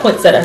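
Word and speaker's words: poinsettia: called poinsetta or POA we call it pointsetta cuz we're Caribbean and that's how we pronounce it like a maniac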